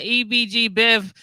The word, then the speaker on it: Ebgbev: audience that i got ebg biv that's what i was pronouncing it but i want to make sure it's right yeah right it's ebg so how are you